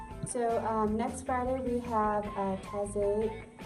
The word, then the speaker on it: Taizé: So next Friday we have Taizé. It's not Taizé. Yeah. How do you say it? Taizé. Taizé. Yeah, Okay. people say it all different ways.